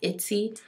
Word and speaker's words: Etsy: i found online she's on i believe it's pronounced itsy it's c it c dot com e t